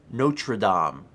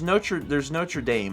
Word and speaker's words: Notre Dame: I've been to Notre Dame. Can you pronounce it either way you want? How's the other way? Well, there's Notre Dame and Notre Dame. I hear it pronounced both ways in the U.S.